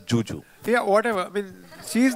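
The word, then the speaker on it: Zhu Zhu: she's it's written as it's written as zuu but she pronounces it as Juju yeah whatever I mean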